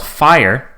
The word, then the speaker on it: Fyre: So it was called Fire. The greatest party that never happened, and Fire is spelled Fyre.